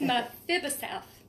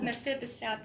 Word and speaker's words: Mephibosheth: and Michael told me how to say this, Mephibosheth. Uh-huh. Mephibosheth.